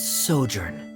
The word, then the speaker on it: sojourn: Director Zosimos, how do you pronounce this word? Let me see. That's sojourn.